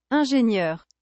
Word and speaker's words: ingénieur: Ingenieur. Ingenieur. Engineer. How do you pronounce that? Let me check. Check real quick. Ingénieur.